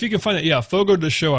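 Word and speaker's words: Fogo de Chão: can find it yeah Fogo de show I'm pretty sure that's how that's how it's pronounced but it's Brazilian steakhouse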